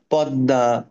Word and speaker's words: পদ্মা: জন্য আমি কি বলেছিলাম শব্দের মাঝখানে বা শেষে যদি ম ফলা আসে তাহলে ওই ম ফলার কারণে উপরে যে লেটারটা থাকে ওটা ডাবল হয়ে যায় তাহলে আত্মীয় পদ্মা হুম তারপরে ধরো এইযে